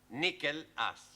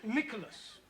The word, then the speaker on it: Nicholas: upon a times there was a man called nickel ass that's not quite right no no once upon a time there was a woman called Nicholas it's pronounced Nicholas so right once upon a time there was